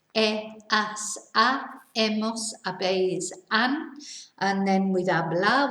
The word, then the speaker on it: he: is the h verb remember we don't pronounce the h so it's e and then with our